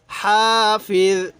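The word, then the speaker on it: حافظ: তাহলে ইং কুল্লু নাফসিল্লাম্মা আলাইহা হাফিজ, হাফিজ, এই জটা নরম করে উচ্চারণ করব।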